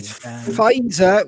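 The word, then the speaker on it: Pfizer: give me the vaccine his vaccine fizer with a silent P oh we are there's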